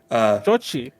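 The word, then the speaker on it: Xochitl: it's pronounced like Sochi Shochi.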